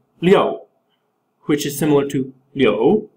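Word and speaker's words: 六: so then oh uh the number six is pronounced Leo which is similar to Leo which means to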